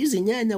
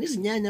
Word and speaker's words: Izinyanya: It's pronounced as easy. Nya, nya, easy, nya, nya.